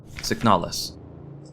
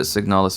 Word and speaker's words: Signalis: Signalis.